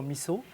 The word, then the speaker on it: miso: On prononce miso soup, miso, c'est plutôt miso.